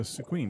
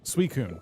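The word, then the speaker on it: Suicune: You found uh Squeen.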